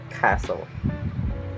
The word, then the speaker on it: castle: Island debris and Isle letter of T it's kind of a little bit tricky about it and select this example Christmas listen and Castle Christmas listen and Castle